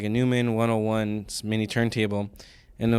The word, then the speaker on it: Neumann: It's Neumann.